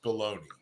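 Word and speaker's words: bologna: one disliked food is baloney baloney which is weird because it's pronounced different than it's spelled I don't I think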